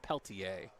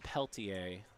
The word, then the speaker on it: Peltier: Peltier. Tom Peltier pitching. I think I had pronounced it peltier, but it's Peltier. The French Canadian spelling.